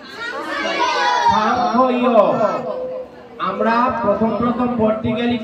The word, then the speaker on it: সাংখ্য: সাংখ্যযোগ। তোমরা তিনজন লক্ষ্য করবা, তোমাদের জন্য বলছি এটা। এটা বুঝে গেছে? হ্যালো, সাংখ্য। সাংখ্যরে সাংখ্য বলছি কেন? মানে দন্তের সাথে থাকলে ছয়ের মতন উচ্চারণ করতে হবে।